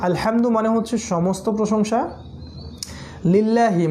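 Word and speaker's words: الحمد: সেটা হলো যে আলহামদু শব্দের মধ্যে যে হাটা আছে, সেই হাটা হচ্ছে হায়ে হুত্তি, যেটা গলার মাঝখান থেকে উচ্চারণ করতে হয়, ঠিক আছে। আলহামদু শব্দের অর্থ হচ্ছে সমস্ত প্রশংসা। কেউ যদি আলহামদু না বলে আলহামদু বলে, অর্থাৎ হাটাকে ছোট হা উচ্চারণ করে আলহামদুলিল্লাহ, তাহলে অর্থ কিন্তু পুরো চেঞ্জ হয়ে যাবে।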